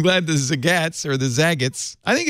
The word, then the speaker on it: Zagat: Google bought Zagat in 2011 for $151 million.